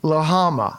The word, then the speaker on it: Lillehammer: The French pronounce it differently. Yeah, they do. Lahama.